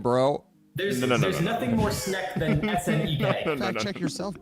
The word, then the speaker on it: snek: Snack. It's snack. You don't say it like snake?